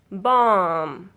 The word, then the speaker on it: bomb: When B comes after M, B is not pronounced after M. B is silent after M. If our words end in B, MB, then B will be silent. These words, if our words end in MB, you don't pronounce B. B will be silent. You pronounce this word is climb, bomb, calm, karam, dumb, limb, num, thumb, tomb, womb. All these words sound M. Last words say mm.